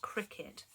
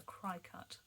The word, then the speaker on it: Cricut: However, if I had I believe it's pronounced cricket. Well, I want to call it a cry-cut because that's how it's spelled.